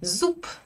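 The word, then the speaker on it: зуб: Le borche par exemple et zoup, la dent. Je prononce pas un bœ à la fin d'un mot russe. Non non, ça m'arrive jamais. B devient peu.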